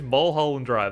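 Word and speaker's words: Mulholland Drive: Mhalland Drive.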